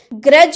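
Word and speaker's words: grudge: अगर जी के पहले अगर डी देखने को आ रहा है तो डी साइलेंट रहता है। जैसे कि ग्रज हम लोग बोले ना, तो यहाँ पर देखिए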